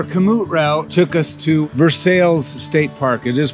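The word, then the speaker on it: Versailles: park so our kamut route took us to versales state park it is pronounced versales lady there said no road's closed you can't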